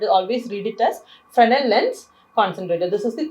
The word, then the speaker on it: Fresnel: Finally, moving on to the third type, which is called the Fresnel lens. Here, the letter S is silent. It is not Fresnel, but it is always read it as Fresnel lens concentrator.